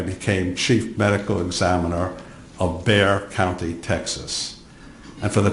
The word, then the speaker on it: Bexar: In 1981, I became chief medical examiner of Bexar County, Texas. And for the transcriber, Bexar is spelled B-E-X-A-R, the X is silent.